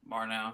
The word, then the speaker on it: Murnau: Murnau, yeah.